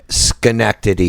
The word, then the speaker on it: Schenectady: listens to this say it again Schenectady well Schenectady is the way it's pronounced okay so let's take a vote of